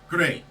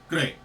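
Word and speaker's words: GLEAT: next up we have great I know it's spelled g e or g l e a t but the L is pronounced like an R so therefore great I recently middle of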